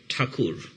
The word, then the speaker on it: Thakur: Tagore in Indian, writing, we write Thakur. So, but Anglicization of this name stands as Tagore.